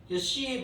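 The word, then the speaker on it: Xi: 뉴를 건너뛰었더니 그 다음에는 크시야, 크시인데 영어는 크 발음 안 합니다. C 바이러스예요. X 크시. 근데 크 발음은 안 해.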